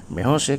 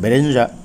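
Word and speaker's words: Bérenger: যাই হোক, আয়নস্কো এখানে বেহোসে বলে যে ক্যারেক্টারটাকে, এটা ফ্রেঞ্চ উচ্চারণে বেহোসে, কিন্তু আমরা ইংলিশ প্রনাউন্সিয়েশনে বেরেঞ্জা বলতে পারি। তো যাই হোক, ফ্রেঞ্চ বেহোসে আর দ্য ইংলিশ বেরেঞ্জা ক্যারেক্টারটাকে যে তৈরি করেছেন, প্রায়শই এটাকে তার অনেক নাটকেই ব্যবহার করেছেন।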